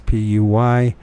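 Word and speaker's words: Puységur: I don't know how to pronounce that. It's Puysegur.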